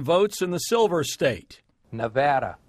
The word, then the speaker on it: Nevada: from here in Nevada the way I just pronounced the name of this state is what this next story is about we haven't always said it the same way and there is a correct way memo to all those